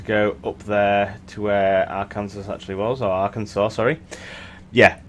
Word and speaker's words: Arkansas: to want to go up there to where Arkansas actually wells Arkansas sorry yeah okay this is where you guys get to yell at me I for the longest time in my life thought Arkansas was pronounced Arkansas because apparently I'm an idiot but then again